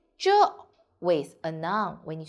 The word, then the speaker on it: 这: In this video, I will teach you how to pronounce it, how to write it, and how to use it. Now, let's read together. 这, 这.